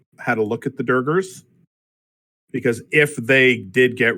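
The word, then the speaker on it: duergar: that pronounced I believe it's pronounced durger every time a cheeseburger Let's Do It um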